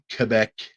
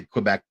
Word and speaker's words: Quebec: That's how they say it. Quebec. I say Quebec.